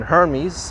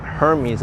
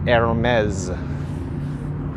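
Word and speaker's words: Hermès: and hermes over here it's not hermes it's hermes that's how you say it and i thought i knew how to pronounce it for a while i called it ermey for like the longest time but it's not earned me is aromas you gotta say it really fancy what is this saint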